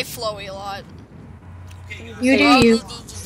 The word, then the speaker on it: Flowey: it's up for interpretation nobody really knows the exact pronunciations I always said flowy CU it's like flower but I mean you can say what you want bro I say flowy a lot you do